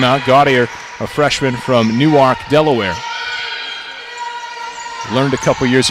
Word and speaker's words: Newark: gaudier a freshman from Newark Delaware learned a couple years ago its new Ark not Newark and if you call